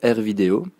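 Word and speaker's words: AirVideo: Il s'agit de R Véo. Ça s'écrit A I R V I D E O.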